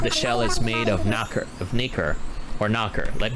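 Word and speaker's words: nacre: my Webster dictionary app wait I think it's naker based on the words yeah so okay let's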